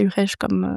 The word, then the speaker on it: Urech: famille, puisque, en fait, ça s'écrit avec CH, la fin de mon nom, mais souvent on prononce Urech. Alors je dis toujours non, c'est Urech c'est Urech comme almanach.